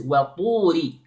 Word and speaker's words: وطوري: Notice here, the wow is light and then the ta is strong and heavy, okay? Notice, the pronunciation of the ta like this. طول it is not two I didn't say waturi okay it is not waturi it is waturi wa tu okay now I want